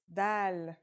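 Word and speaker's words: دال: notebook ready let's go our first letter is DAL it's just like the English D very easy to pronounce and easy to write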